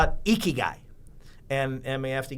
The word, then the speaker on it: ikigai: passionate about digging ditches so i call it ikigai and and we have to give you the spelling but it's like i-k-i-g-a-i but it's pronounced ikigai it's a japanese meaning for uh